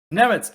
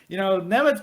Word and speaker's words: Nemets: Nemets, any final words, and how can the good people follow you? I can just go to Twitter and search at Peter_Nemets, like the Admiral.